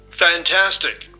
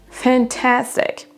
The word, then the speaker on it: fantastic: Fantastic. Fantastic. Fantastic. Fantastic. Vous entendez bien que donc la deuxième syllabe est accentuée plus que les deux autres.